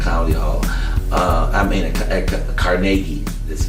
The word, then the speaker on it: Carnegie Hall: comedy concert at comedy Hall uh I mean carnegi this pronounced carnegi at Cari Hall I'd love to